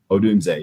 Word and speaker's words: Odunze: Is it a Dunze? Is that how you say it? Odunze, yeah.